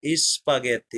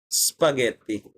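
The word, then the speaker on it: spaghetti: ছেড়ে আসতে ইসপাগেতি যেমন ওটা কিন্তু পুরাটা এস উচ্চারণ করে না যে ইসপাগেতি তারা কিন্তু বলে তারা বলে সপাগেতি তার মানে এসের যে পুরা উচ্চারণ সেটা অর্ধেক করে তারা শুরু করল ওকে আচ্ছা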